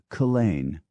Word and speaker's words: Culzean: darlingscott is Darscot, and culzean castle is Culzean.